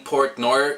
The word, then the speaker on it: Port Noir: album production is great the band has a funny name Portnoy if you don't pronounce it R at the end you pretty much have the name of one of the most famous prog metal drummers so as a musician